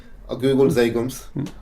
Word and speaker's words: Zhagum: So is it actually pronounced Zhagum or? Zhagum, yeah, that's how you pronounce it. But we don't spell it like that.